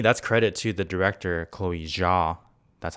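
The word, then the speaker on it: Chloé Zhao: And that's, to me, that's credit to the director, Chloe Zhao.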